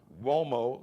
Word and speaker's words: Uomo: Mario Uomo is an Italian surname, but it's spelled Uomo. Uomo's not spelled with a W, spelled with a U.